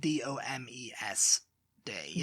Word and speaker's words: Domesday: It's spelled D-O-M-E-S day.